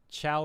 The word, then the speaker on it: Chao: Chat wait, Chao pronounced Chao are creatures Yeah, I know.